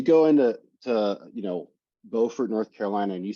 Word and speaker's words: Beaufort: into to you know Beaufort North Carolina and you say Beaufort that's South Carolina by the way spelled exactly the same but it's Beaufort in South Carolina it's Beaufort in North Carolina if